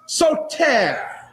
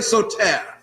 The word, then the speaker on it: Soter: And Ptolemy the First, nicknamed Lagi or Lagi, assumed the throne, and his nickname was Soter. Everybody say Soter. Soter. You may want to write it down. It's spelled S-O-T-E-R.